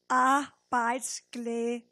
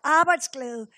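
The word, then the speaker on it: arbejdsglæde: but in Danish it's I actually helped you how to pronounce it here a bites GL so what about we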